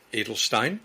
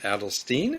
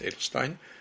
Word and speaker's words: Adelstein: I should say quickly that it's actually pronounced Adelstein, and the show pronounced it Adelstein. It's actually the German pronunciation is Adelstein.